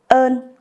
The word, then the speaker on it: ơn: For example, we have the word ơn. With this word, the sound has to be pronounced long, like the illustration. Ơn.